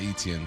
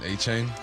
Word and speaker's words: Achane: And you got, how do you say, not Etienne, Achane?